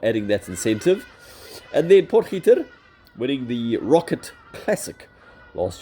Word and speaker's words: Potgieter: So, obviously, my two South Africans, Casey Jarvis and Aldrich Potgieter. Geez, I messed that up. Potgieter. That's how you say it. You got to really uh be guttural with that G. Potgieter.